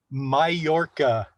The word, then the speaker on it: Mallorca: Mallorca. Pardon my nasal inflection. Mallorca, I believe is how you spell it.